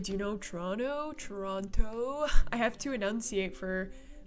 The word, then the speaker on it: Toronto: Trana. Yeah, exactly what Nico said. We're not French, or you're not Canadian until you pronounce Toronto like Trana.